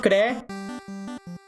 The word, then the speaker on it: Klee: Unfortunately, this was the only Clee that I found. I call her Clee, even though it's pronounced Klee.